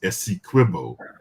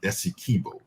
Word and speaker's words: Esso: be very clear that it is Esso not Esso uh this has always been the way that it has been pronounced and so let me